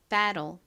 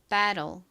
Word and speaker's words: battle: 발음 같이 해볼게요. battle, battle.